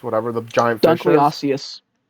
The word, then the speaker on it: Dunkleosteus: Does a Dunkleosaurus or Dunkleototus, whatever the giant fish is, Dunkleosteus. that's how it's pronounced? Yes.